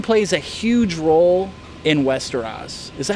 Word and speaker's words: Westeros: Religion plays a huge role in Westeros. Is that how you pronounce it?